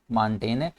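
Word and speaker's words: Montaigne: तो मार्टिन बनता है लेकिन इनका नाम इनकी प्रनंसीएशन जो है वह माउंटेन क्योंकि जो है वह अक्सर जब वर्ड्स के एंड होता है वह साइलेंट कंसीलर होता है ठीक है तो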